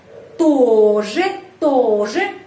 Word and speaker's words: тоже: Тоже. Huruf O di sini mendapat penekanan karena itu O dibaca O tetap.